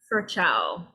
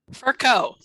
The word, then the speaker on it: Furco: Next, how about Furchow? Will you please read equality? Furco, but that's okay. No one can ever pronounce it right.